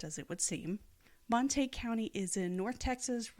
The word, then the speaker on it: Montague: the name and you think it would be pronounced Montague like Romeo and Juliet Montague and caplets but no no this is Texas where nothing is pronounced as it would seem Monte county is in north Texas right on the